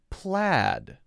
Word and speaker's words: plaid: pay paid laid but plaid this is pronounced p-l-a-d like that say said pay paid